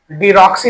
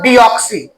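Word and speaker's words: deoxy: डीएनए का full form pronunciation डीऑक्सीराइबोज nucleic acid डीऑक्सी डीऑक्सी डीक्सी नहीं पढ़ते हैं डीऑक्सी डीऑक्सी आई भी राइबोज न्यूक्लिक एसिड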